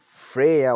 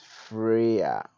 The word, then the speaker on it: Freya: Freya was the goddess of love in Scandinavian mythology, pronounced here as you can see as Freya. Freya.